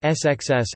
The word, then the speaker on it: scs: An example from the latter is SCS. Seal fat, pronounced SXS, as spelled, and a longer one is Klachpiltplachosks, pronounced XPKITPSKTS.